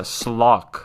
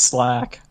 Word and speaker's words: Slack: Yo, Slack, we pronouncing your name wrong? I don't know. Yeah, no, Maybe it's it's a slock. That's how you pronounce it. Slock. Slock. No, it's Slack. Man, I'm Slack?